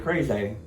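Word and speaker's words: Kragay: is also a KJ his name is KJ crazy that's how he says it's pronounced because it's it's spelled k-r-a-g-a-y so I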